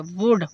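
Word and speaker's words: would: देखो डी से पहले एल है इसलिए यहां पर एल को साइलेंट कर दिया। वुड वुड मींस क्या होगा?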